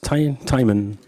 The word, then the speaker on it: TEIMUN: TEIMUN, how do you pronounce it? TEIMUN. Any way you like.